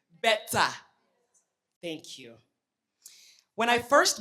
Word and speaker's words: Betsa: How do you say it? Betsa.